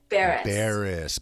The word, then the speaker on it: Barrus: name a thousand times but what's the exact pronunciation of your last name beerus beerus and it it's like but it's spelled